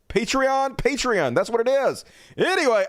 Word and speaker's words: Patreon: D how am I saying it's patreon right Patron patreon patreon that's what it is anyway I don't give